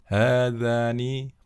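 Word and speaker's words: هذا: Hadza ya, dibaca panjang, bukan hadza, bukan ya. Hadza qalamun ya, hadzani qalamani ya, akhiran ani ya, menunjukkan musanna ya. Hadzani qalamani, seperti itu.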